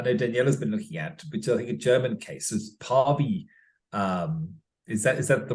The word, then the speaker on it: Päivi: at, which I think a German case is Päivi. Is that the right way to pronounce it, Daniela?